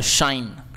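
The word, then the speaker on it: shine: शाइन ठीक है देखिए और यह शाइन जब बोलते हैं ना तो यह शाइन यह स नहीं होता य यह वाला श होता है शाइन ठीक है क्लियर है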